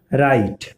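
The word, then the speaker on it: write: तो ये 8वां कॉन्सेप्ट है कि जब W के बाद जब R हो तो जो उसमें W होता है वो साइलेंट हो जाता है। यानी कि W के बाद जब R होगा तो जो W है वो चुप हो जाएगा, साइलेंट हो जाएगा। आप यहाँ पे देख सकते हैं जैसे है राइट, तो राइट में इस W के बाद क्या है, R है।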